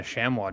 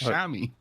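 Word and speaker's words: chamois: what that's their name it's not it's a Shamy what it's pronounced Shamy then why is there a no in it you're from a different part of the world we pronounce things differently have you never heard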